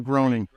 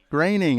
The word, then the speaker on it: Groening: it Matt graining or groaning graining I just want to make sure make sure I got his name right he always says his name rhymes with complaining so like before before